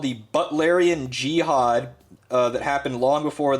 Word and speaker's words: Butlerian: Butlerian, it's like butler, like someone who is a butler. It's spelled like that.